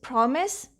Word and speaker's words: promise: simply the rule breaker the word is promise in this you can hear the s sound as a notice and justice and office but it is written with s